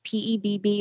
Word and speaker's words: PEBB: members and I have to ask is it pebb or um PEB how do we pronounce that we say PEB okay so for